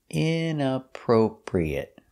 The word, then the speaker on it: inappropriate: next word is inappropriate inappropriate stress is on the in appropriate the first and third syllable inappropriate inappropriate inappropriate is